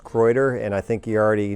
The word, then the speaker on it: Kreuder: mr mayor so sir my last name is pronounced kreuter and i think you already know that my